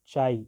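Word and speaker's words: χ: Sign से दिखाते हैं, जिसको हम क्या पढ़ते हैं, चाई या काई भी, हाँ मैं तो इसको प्रोनाउंस करता हूँ काई, आप कुछ भी प्रोनाउंस करो, इसको CHI बोल इसकी स्पेलिंग होती है, तो आप चाई करो या फिर आप काई करो, ये आपकी चॉइस है।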